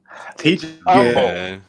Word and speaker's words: Humble: Humble. It drives me crazy when they can't learn how to pronounce the city name right.